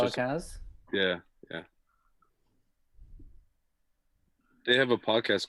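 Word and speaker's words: Calacanis: Jason, how do you pronounce his last name? Calacanas?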